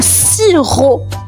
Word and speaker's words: sirop: Le sirop. Un sirop. Et le sirop les amis s'écrit s i r o p. La lettre muette à la fin c'est un p sirop.